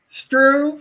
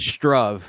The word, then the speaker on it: Struve: star and so um i guess it's struve is that the way you pronounce the catalan sure yeah or struve i've heard also just don't say it strove i think that's wrong oh okay so anyway